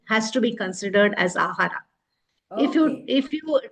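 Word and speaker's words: āhāra: deliberate on this word ahara, man. Hmm. Ahara has two syllables, ah and ra.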